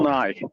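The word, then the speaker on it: Nighy: His his name is spelled N I G HT. Bill Nye.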